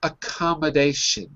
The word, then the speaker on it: accommodation: It's not sun. It's shun. Accommodation. Uh-oh. I'm still hearing sun. So let's just look at the last syllable. Repeat after me. Sh, like sugar.